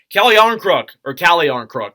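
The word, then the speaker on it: Calle Järnkrok: Calle Jarnkrok is how you actually say his name.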